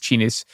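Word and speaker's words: Xinis: But I think Chenis is is X I N I S is how the name is spelled. I believe it's Chinis said that every day that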